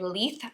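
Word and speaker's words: Leith: is uh the colorway leaf I believe is how you say it l-e-i-t-h and then the contrast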